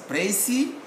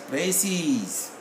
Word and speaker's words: précis: If it is singular, we pronounce it as précis. If it is plural, we will pronounce the same spelling as précis.